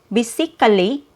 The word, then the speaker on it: basically: So instead of saying basically basically the vowel sound or the schwa after k is not heard.